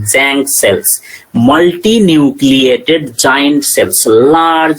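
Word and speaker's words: Tzanck: In electron microscopy, Jank smear, T-Z-A-N-K, Jank, T is silent, Jank smear, it is called Jank.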